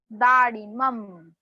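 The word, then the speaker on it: दाडिमम्: नारंगम, पनसम, दाड़ीमम. म के ऊपर थोड़ा स्ट्रेस देना है.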